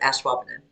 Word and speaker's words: Ashwaubenon: That's like, have you been scrubbing? I've been. I got it. I hear it. I've been washing.